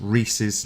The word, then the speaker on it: Rhesus: It's Rhesus negative. Is that the correct pronunciation?